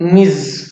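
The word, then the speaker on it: Ms: इसका प्रोनाउंसिएशन समझ लीजिए, मिज।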